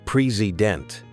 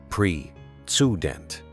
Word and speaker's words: president: That first just becomes a tiny or the word president. It's not president, it's pre-student.